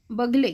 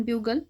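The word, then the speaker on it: bugle: मिळाला बरोबर आहे मेरठच्या बगले किंवा ब्युगल इंग्लिश मध्ये त्याचा प्रोनन्सिएशन ब्युगल या पारंपरिक लष्करी वाद्या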